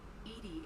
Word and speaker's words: EDI: are you named Edie Edie is the phonetic pronunciation of EDI that is an actor